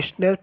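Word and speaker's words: Schnapps: और स्नैप्स pronounce जैसे a German drink made from grain, एक जर्मन ड्रिंक होता है स्नैप्स का मतलब, जो कि अनाज से मिलकर बनता है।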